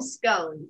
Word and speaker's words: scone: weird i don't know i think it rhymes with like gone like we call we call scones i've never heard scone